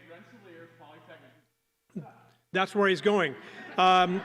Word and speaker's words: Rensselaer: You say Rensselaer Polytechnic.